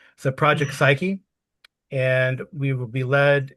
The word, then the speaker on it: Psyche: Project Psyche because I was say I always want to drop the E. So, Project Psyche and we will be led in our journey today by D.